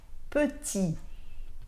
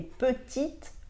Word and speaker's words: petit: ่ ะ Autre exemple, petit au masculin et petite au féminin. Donc au masculin, petit s'écrit P-E-T-I-T et vous ne prononcez pas le T de la fin.